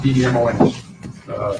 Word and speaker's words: Demons: It's pronounced Demons, D-E-M-O-N-S.